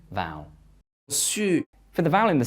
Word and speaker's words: su: in the mouth, and the second word, su, u, su, has the tongue further back in the mouth. Check you don't say it like the English word sue.